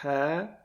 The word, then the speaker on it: ح: This is letter ha. Easiest way to pronounce it is similar to blowing on glass.